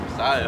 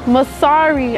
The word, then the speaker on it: Masari: No, you said Messiah. I'm not Masari. Masari.